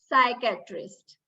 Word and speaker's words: psychiatrist: Letter P is also silent when it is followed by S in most of the cases. For instance, psychiatrist, psychology, pseudo. We don't pronounce it as pseudo, right? So P is silent when it is followed by letter S.